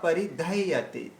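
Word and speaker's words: परिदह्यते: গান্ডীবং স্রংসতে হস্তাৎ ত্বক চৈব পরিদহ্যতে, পরিদহ্যতে। তারপরে ন চ শাকন, এই দেখুন শাকনামিয়া, এখানে এই শাকনামিয়া একসঙ্গে উচ্চারণ করতে হবে।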